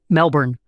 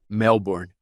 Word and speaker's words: Melbourne: missão na Austrália, missão Melbourne. Será que eu disse certo? Você não pronuncia os R's. Melbourne. Melbourne.